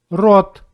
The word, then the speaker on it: рот: Letter O in the words with one syllable always pronounced like O. You may repeat after me. Кот, кот. Рот, рот.